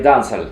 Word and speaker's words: dancehall: Ты знаешь, дело в том, что ямайцы вообще, если мы будем пытаться имитировать ямайское произношение, то мы вообще должны говорить дансаль. Дансаль или дансаль. Dancehall can't start forever and ever. Dancehall can't start. Потому что они не читают букву H, и плюс они как